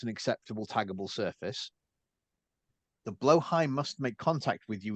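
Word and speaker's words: Blåhaj: Caribbean themed one where they had the IKEA blow high. Am I pronouncing that correctly, Joker?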